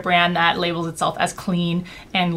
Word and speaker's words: Cleen: that labels itself as clean and literally has the name clean although it's spelled Clee n and that's available through